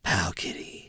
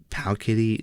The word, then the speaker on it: Powkiddy: Even though it's spelled D with D's instead of T's.